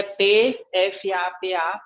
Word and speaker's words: PFAPA: e depois, ele é PFAPA, mas não se pronuncia o primeiro P.